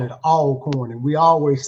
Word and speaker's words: Alcorn: Um, what was it like being a division one athlete at Alorn State University? And so hey, northerners uh usually uh pronounce it alorn. We call it all corn.